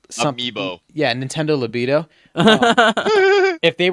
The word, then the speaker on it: Amiibo: I think if they took the Nintendo Labo, whatever they pronounced it as, label. if they took Libido? Amiibo.